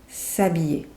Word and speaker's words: s'habiller: And you probably already know that the H in French is not pronounced. S'habiller.